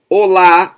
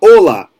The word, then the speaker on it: hola: And just to finalize this, Hola is not hola. Hola. La is the strong syllable. Hola. Open it up.